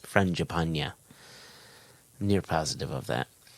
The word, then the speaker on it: Frangipane: of his name, and he did tell me exactly how his name was pronounced, and I think that is Frangipane.